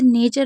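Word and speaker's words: nature: जैसे नेचर में आप देख रहे हैं न ए च र तो इसका नेचर में आप देख रहे हैं टी यू आर ई है।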